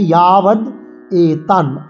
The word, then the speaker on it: यावदेतान्: ইয়াবদ এতান, ইয়া অন্তর্য ইয়া করে উচ্চারণ করব এবং অন্তর্য আকারে আমরা একটা দীর্ঘস্বরের মাত্রায় টান দেব। ইয়াবদে ইয়েতে টান দেবো। ইয়াবদে তান, এই তাতে টান দেবো।